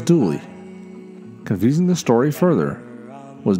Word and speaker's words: Dula: His real name was Tom Dula, but the local pronunciation was Dooley.